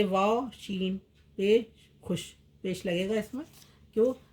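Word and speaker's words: خوش: इसे वाव के नीचे छोटी रेखा लगाकर व्यक्त किया जाता है, मतलब उच्चारण में नहीं आता। खे वाव शीन पेश खुश, खे वाव दाल पेश खुद।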